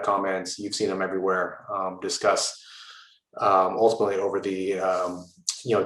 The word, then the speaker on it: Disqus: occurred to me that um you were saying discus just because it it it's pronounced that way so often that i i don't uh it doesn't even uh stick out to me um we call it discuss um i think you're more correct in pronunciat